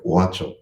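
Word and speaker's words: gaucho: you know like the the g is silent so it sounds like wacho as well so i'm going to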